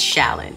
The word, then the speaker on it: Challan: It's Challan. It's just Challan. You act like the C is an S and you spell it C-H-A-L-L-A-N, but you pretend it's S-H-A-L-L-A-N. That's how you say it.